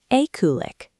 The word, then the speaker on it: eklig: Let's break down the syllables on this one. Repeat after me. E-ku-lik.